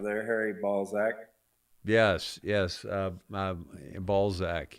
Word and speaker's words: Balzac: Balzac, yes. I think it's a Z. It's yeah, it's not pronounced with an S.